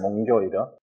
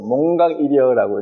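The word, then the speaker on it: 몽교일여: 몽교 이어. 몽사하고 한자로 렇게 써 놓으면은 이게 읽어 보라 그러면 또 몽각이어라고 읽는 사람이 있어요. 이거는 깨달을 각자인데 꿈꾸다 꿈에서 잠에서 깨어나다 할 때는 교라고 읽어요.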